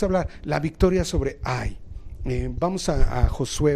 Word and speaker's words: Hai: sobre y sube ay la h no está en el original por eso se pronuncia ay mira yo he entregado